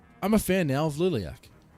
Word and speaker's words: Liliac: a fan now of Liliac. And now I'm saying the band's name correctly. I was pronouncing it Liliac a few times.